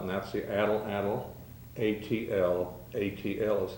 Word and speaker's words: atlatl: know something about and that's the adult adult atl atl is how that's spelled that's pronounced atlatl uh i'd like to